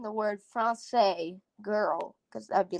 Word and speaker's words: Français: Français, apparently.